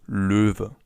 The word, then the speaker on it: Löwe: So for now, it's just important that the animal is pronounced Löwe.